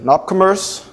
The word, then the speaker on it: nopCommerce: today a bit about the nopcommerce which is the right way to say it for those who are